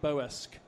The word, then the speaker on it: Bossk: George Lucas pronounces Bossk in a totally different way to the rest of the world, but he has to be right because he's George Lucas. I think he calls it Boesk.